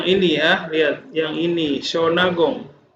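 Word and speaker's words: Shōnagon: ya lihat yang ini shonagon dibacanya Sion Agung zona gong sonagol itu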